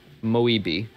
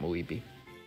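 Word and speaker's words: Moiib: You have Moeby. Which is spelled M-O-I-I-B. Or Moeb, not Moeby.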